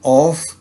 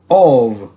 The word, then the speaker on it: of: पढ़ते हैं ना ऑफ, ये असल में ऑफ, इसे हमने प्रोनाउंस नहीं करना होता, इसका प्रोनाउंसिएशन है ऑव।